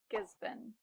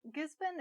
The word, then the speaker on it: Gisborne: I sometimes hear people say Gisborne, but this is actually just Gisborne. Not born, but been. Say it with me. Gisborne.